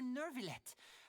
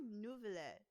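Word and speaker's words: Neuvillette: It's not Nouvelet. It's Nervillet. Oh my goodness. Because many people say Nouvelet, I also start to say Nouvelet. But it's actually Nervillet.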